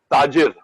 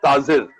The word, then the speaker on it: ताजिर: मुझे याद है एक सीरियल था बुनियाद, उसमें एक वर्ड था जिसका तलफ्फुज, उच्चारण था ताजिर, द बिजनेसमैन। मैंने बोल दिया ताजिर, जेड बोल दिया।